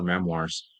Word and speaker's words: memoir: And you know, if you go to the bookstore and ask for memoirs, um it's actually pronounced memoir. It's a French word.